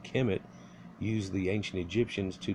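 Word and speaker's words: Kemet: interpretations of the original name Kim it conventionally pronounced Kim it used the ancient Egyptians to decide describe themselves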